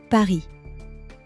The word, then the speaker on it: Paris: Paris, not Paris. Listen. Paris. Merci, not mercy.